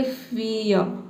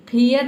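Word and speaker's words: fare: फियर नहीं पढ़ना है आपको, पढ़ना है फेयर, फेयर, ठीक है।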